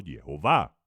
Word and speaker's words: Jehová: Eshva Olam Kamat, lo cual nos dice y nos revela que su nombre es Jehová y se debe pronunciar como Jehová. Más de 2000 manuscritos.